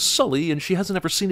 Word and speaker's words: Sully: Jake why does she pronounce his name as suly when she just heard him say it was Sully and she hasn't ever